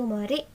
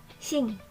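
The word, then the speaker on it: 森: Yang pertama, kungnya itu mori, yang kedua itu ongnya itu shing.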